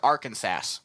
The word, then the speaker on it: Arkansas: Or Arkansas.